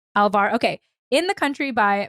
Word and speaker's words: Alvar: by, wait, Nani, do you know how to pronounce the last I think name? it's Mia Alvar. Alvar.